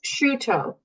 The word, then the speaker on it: Sciotto: It's sciutto. Sciotto. So is that Sciutto like prosciutto. Italian like prosciutto?